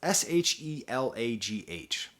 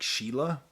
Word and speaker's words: Shelagh: So it's Shelagh. So I assume that's some kind of Irish name. So I'm going to imagine it's like Sheila.